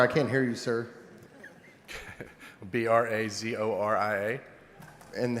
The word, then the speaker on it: Brazoria: How do you spell that? B R A Z O R I A. I'm sorry, I can't hear you, sir. B R A Z O R I A.